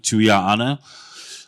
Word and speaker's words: Tuia'ana: Beautiful pronunciation by my good friend Benem of my last name, Tuia'ana.